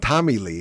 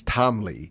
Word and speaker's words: Tom Lea: I wouldn't have known because I don't listen to Motley Crue, but it's not Tommy Lee, it's Tom Lea. And the way you spell it is Tom, T-O-M, Lee is L-E-A.